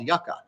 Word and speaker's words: Yuka: It's called Yucca, and it's spelled Yuka.